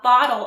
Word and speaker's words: bottle: opener this is a bottle opener notice the two T's in Bottle sound like a d i got this fancy